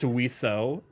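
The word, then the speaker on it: oiseaux: and tell me that wio is spelled o UI SE e Au ux and is pronounced wio it's two syllables versus like 20 letters exactly flip a coin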